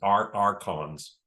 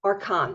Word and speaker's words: Archons: They're pronounced Archons. Archons. With a K.